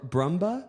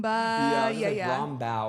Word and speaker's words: Brumbaugh: me my friend how do you say your last name um bruma brumba brumba okay I was not going to say it like that so no that's okay people will say like brooma broma or something like that's another one that I get yeah yeah yeah U